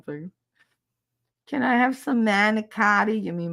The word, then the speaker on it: manicotti: Can I have some manicotti? You mean manigot?